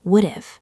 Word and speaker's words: would've: Yes, native speakers rarely say would have clearly. Instead, they say would've. Like, I would've gone.